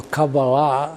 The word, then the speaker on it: Kabbalah: say, the two buzzwords, one of them being Kabbalah, or Kabbalah, as it is pronounced in Hebrew, because of all the languages that I was browbeaten into studying.